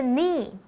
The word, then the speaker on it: knee: Jewel 的右手手腕上面戴了一只手镯。第二个单字 knee 是膝盖，它是名词，前面的 k 不发音哦。例如 Nick felt a sharp pain in his right knee.